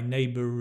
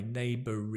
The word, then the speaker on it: neighbour: English you will connect you'll introduce the r if you have the next word with a vowel right so you will have that my neighbor is friendly so we